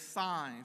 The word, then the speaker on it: Saenz: it no okay but the pronunciation of our Bishop name is signs which makes for a